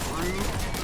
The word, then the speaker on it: R/B: They seriously called it Rube? Yes. Yes, it's called Rube. R/B, pronounced.